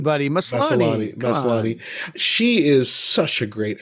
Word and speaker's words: Maslany: Maslany.